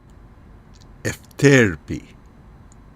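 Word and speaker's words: Euterpe: Efterpi is the muse of music.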